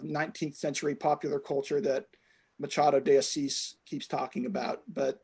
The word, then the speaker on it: Machado de Assis: And I had to look up how the name is pronounced because it's a Brazilian Portuguese name. And it's by an author from the 19th century named Machado de Assis.